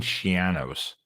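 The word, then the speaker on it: Schiano: Kirk parents versus the fighting Shianos. This rhymes with a piano because we've all been mispronouncing it for like over a decade, right?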